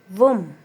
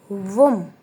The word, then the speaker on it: womb: Womb. Womb. B is silent.